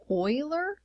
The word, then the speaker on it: Euler: for it is the Euler number so to pronounce that it's Euler so oil and then a boiler let me